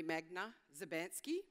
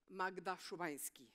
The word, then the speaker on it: Szubanski: So you probably know me as Magda, maybe Magna Szubanski. It's actually pronounced Magda Szubanski.